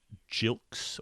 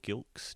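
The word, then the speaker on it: Gilkes: on it uh matthew jilks or gilks jilks he's a soft g isn't he um made 66 and swept and four for 60.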